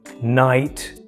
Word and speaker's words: knight: For example, in the words know, knight, knock. What do you notice with these words? The K appears before the N at the beginning of the word, and it's not pronounced.